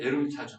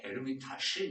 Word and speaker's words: 에르미타주: 러시아 이제 에르미타주 박물관, 에르미타시 뭐 이렇게 발음을 하는데 그런 세계적으로 유명한 박물관들이 몇 개 있죠.